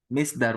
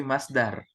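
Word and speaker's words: مصدر: Misdar, bukan misdar bacanya tapi masdar. Oh iya, Masdar. Misdar nggak ada, adanya masdar. Masdar.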